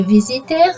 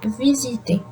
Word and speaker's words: visiter: It is pronounced E. I don't say visiter, I say visiter.